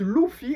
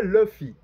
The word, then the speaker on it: Luffy: là dans le japonais Luffy ça se prononce l'oufi et non pas Luffy donc ça c'était juste